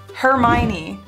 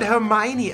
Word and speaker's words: Hermione: Hermione. Hermione. Hermione Granger? Granger? Hermione Granger. Hermione Granger. So in German it's Hermine. Hermine.